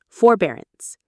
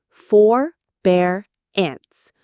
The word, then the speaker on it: forbearance: Forbearance. Forbear ants. Forbearance. The stress is on the second syllable. Bear. Forbearance. It has the word bear in it, which can help you remember it.